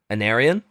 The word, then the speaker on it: Aenarion: too at the end, like How do you pronounce his name again? Aenarion.